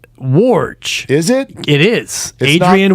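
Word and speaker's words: Woj: the name is spelled WJ correct but it's pronounced warge is it it is Adrian wowski it's not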